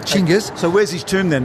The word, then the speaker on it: Chinggis: Now, is it pronounced Genghis or Genghis? Chinggis. Genghis. I was just speaking for the Australian audience, but Chinggis.